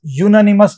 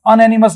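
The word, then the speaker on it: unanimous: A university it वाज यूननिमस decision इसको अननिमस नहीं बोलते हैं यूनानिमस बोलते हैं य का साउंड आ रहा है क्योंकि य का साउंड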